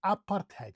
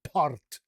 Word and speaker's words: apartheid: We say apartheid. So, ah ah, literally wide open. Ah, and then ah. Ah ah apartheid. And we use the rolling R, remember?